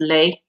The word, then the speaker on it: les: So L-E-S is pronounced lay, and that is plural because it has an S onto the le.